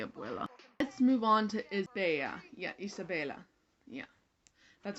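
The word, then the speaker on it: Isabela: Let's move on to Isabella. Yeah, Isabella. Yeah. That's how you say her name. Isabella, basically the golden child of the movie.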